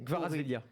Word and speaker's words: Kvaratskhelia: Vas-y, tu prononces. Non, je le redirai pas, c'est horrible à dire. Ah si, non, c'est Kvaratskhelia.